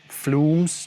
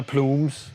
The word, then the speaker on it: Plumes: In this case I'm using an Earthquaker Devices Floomes, at least that's how I think you pronounce it... Søren: Floomes? Tim: Oh, Plumes!